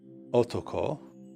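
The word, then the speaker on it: 男: How do you pronounce this? It's otoko.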